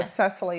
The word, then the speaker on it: Cecily: your name correct okay I said Cecily okay because when you look at it it looks almost looks like a Sicily or something like that so Cecily is a correct pronunciation and you know I